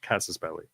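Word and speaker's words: casus belli: war cause of War casses it's actually right casses belly it's the correct pronunciation so yeah yeah you can't have that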